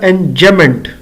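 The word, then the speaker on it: enjambment: एम बी एम इ एन T basically B silent है तो ये पढ़ा जाएगा एनमेंट जमेंट यानी कि डबल एम इकट्ठा पढ़ा जाएगा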